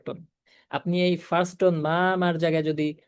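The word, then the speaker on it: 妈妈: তাই দেখেন, মাদারের চাইনিজ উচ্চারণ হবে মা মা, মা মা, মা মা। কোনো অবস্থাতেই মা মা, মা মা, মা মা এভাবে উচ্চারণ করা যাবে না, ঠিক আছে।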